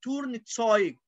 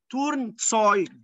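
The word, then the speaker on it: Turnzeug: ده لبس الرياضي اسمه تورن تسايج، تورن تسايج. ايه تسايج؟ ايوة، لان الاي وراها او تبقى اوي، زي ايه؟ زي فراين، فراي، فراين بالصديق. فهنا اللبس الرياضي اسمه تورن تسايج، تورن تسايج.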